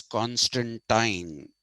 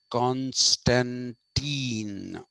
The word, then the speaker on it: Constantine: One which comes from the British, which is Constantine. The British pronounce this as Constantine. The Americans pronounce it as Constantine.